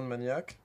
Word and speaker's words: Maniacs: Lui offrir 10,000 Maniacs. Ouais. Ok. Moi, j'ai toujours entendu les gens pas prononcer le S sur Maniacs en plus, donc c'est pas un souci.